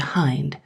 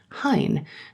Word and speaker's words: Hind: this parish under the Hind, or Hine, the Saxon pronunciation is still retained in the west of England, or general supervisor of this and numerous other extensive farms.